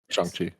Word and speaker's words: Shang-Chi: Maybe we'll see him again in Shang-Chi. Did I say it right? Yeah. Mhm. Shang-Chi.